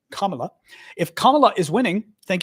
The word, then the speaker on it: Kamala: anyway um but if camela is winning C camela I can't pronounce her name Kamala if Kamala is winning